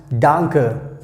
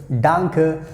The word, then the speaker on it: danke: so you can use this word danke that's how we have to pronounce danke danke so we can use